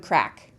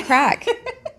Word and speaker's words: craic: We are talking about, it is spelled C-R-A-I-C, craic. It's pronounced crack. It's an Irish word.